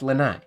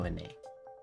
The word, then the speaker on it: Lanai: It's Lanai. Yeah, it's not Lene. It's Lanai. Lene, like Renee.